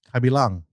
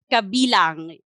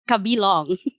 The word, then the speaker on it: kabilang: yes they're right but we pronounce it as kabilang yes or in in yes uh the meaning of kabilang or kabilangan is belongingness to belong belong yes we're actually kidding like it's kabilong not kabila yes so belongingness how